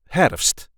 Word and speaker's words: herfst: depending on where you are we call it herst herst I know this is a tricky one